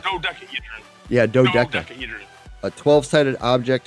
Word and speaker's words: dodecahedron: Yeah, no, it's Doda. Dodecahedron.